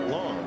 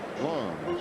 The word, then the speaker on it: Lang: His name is Long. It is spelled L A N G, but pronounced Long.